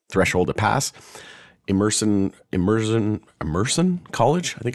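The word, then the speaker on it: Emerson: rate at 60% threshold to pass immerson immersion immerson College I think it's pronounced polling puts the measure on edge with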